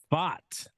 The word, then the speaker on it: Pfaadt: one what's good fam fam what's good famf fought Brandon fought big Brandon FS I finally figured